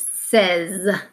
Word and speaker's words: says: But here in the middle, we say eh, says. So we pronounce it says, and that's when you're talking.